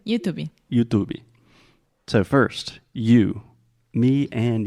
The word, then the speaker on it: YouTube: opposite of saying YouTube because we are pronouncing the T Here YouTube is a traditional true tea YouTube YouTube yes yeah here